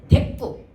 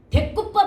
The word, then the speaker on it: 대구: 여기서 쓰지는 못하는데 데구. 대구법 할 때 요즘 애들이 자꾸 대구라고 발음하거든요. 그 대구. 대구가 아니야. 대구도 역시 뭐야? 한초합성으로서 사이소리 현상이 드러나는 데구라고 발음을 해야 됩니다.